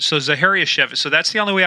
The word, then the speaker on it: Zachariasiewicz: name guys uh zaharia chevit see and it rhymes with manevitz so zaharia chevit so that's the only way I can remember because I thought it was zareski but know it's it's